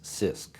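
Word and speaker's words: CISC: complex instruction set computers abbreviated c-i-s-c and pronounce sisk we propose that microprocessors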